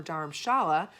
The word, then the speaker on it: Dharamshala: Dharamsala, or Dharamshala, as it is pronounced in Hindi, means spiritual dwelling, combining the